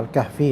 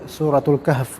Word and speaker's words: Al-Kahf: tafsir surat Al-Kahf atau Al-Kahfi ya. Kalau di Indonesia sebutnya Al-Kahf, Al-Kahfi. Kalau orang Arab sendiri nyebutnya Suratul Kahf gitu bacanya, Suratul Kahf.